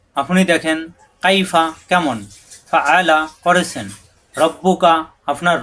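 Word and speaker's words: كَيْفَ: কাইফা, কাইফা কোনো টান নেই, কাইফা অর্থ কেমন, কাইফা কেমন।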